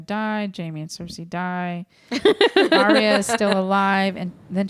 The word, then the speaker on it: Arya: You know, Ira. It's 3 syllables. Arya.